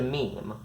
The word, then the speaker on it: meme: suitable Greek root but I want a mono syllable that sounds a bit like gene I hope my Classica strides will forgive me if I abbreviate my name to meme that quote written in